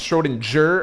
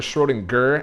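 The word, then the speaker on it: Schrödinger: to get this wrong I forget if it's schroen jur or schroen gur I think it's I think it's a hard G schroen gur Schrodinger I'm I'm so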